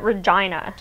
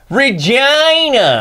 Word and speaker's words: Regina: must ow not me canadians pronounce it regina regina we're not pronouncing it wrong on purpose vagina saskatchewan that's what you